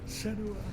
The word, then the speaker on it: Senua: Senua, prepare yourself for Ragnarok.